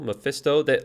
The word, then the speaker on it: Mephisto: It looked terrible, but I think Mephisto looks pretty cool.